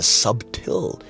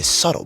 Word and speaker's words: subtle: You notice how I didn't say there's a subtill change. I say subtle because the B is silent.